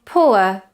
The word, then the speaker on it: poor: Examples with this diphthong would be poor, tourist, cure, pure. Notice, however, that this diphthong is sometimes pronounced by native speakers of English as or, just vowel or as in horse.